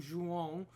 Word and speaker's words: Juan: so let me say my name properly i'm juan or in english it's there you go